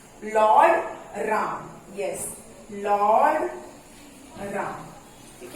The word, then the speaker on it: राम: Lord राम. Yes, Lord राम. ठीक है, Lord राम. तो लॉर्ड रामा भी बोलते हैं या लॉर्ड राम भी बोलते